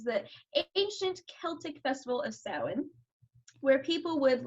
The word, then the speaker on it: Samhain: this is it's called it's spelled way differently than it's pronounced it's pronounced like samhain this is the ancient celtic festival of samhain where people would like